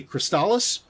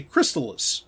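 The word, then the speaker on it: Crystalis: The last one is, there's two different ways I've heard this pronounced. Some people say Crystallis. Other people say Crystallis, and it is crystal,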